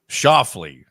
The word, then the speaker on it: Schauffele: That's Xander Schauffele. Schauffele. Really, very close to Scheffler. Yeah, it is. At least in terms of pronunciation.